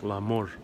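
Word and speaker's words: la mort: You say it's pronounced more like Lamort. Interesting. Sounds a lot like love in Spanish. Lamor. Do not say the T.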